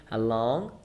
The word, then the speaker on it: along: And the difference in pronunciation between along and alone. Like Along. okay. You can almost hear the G.